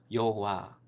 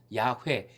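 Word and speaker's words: Yahweh: 3상 에 집중되어 등장합니다 여호와 이것은 영어식 반이고 실제 시도에 음 까 에 가까운 발음은 야외 야외 있어요 야외 야외 는 매우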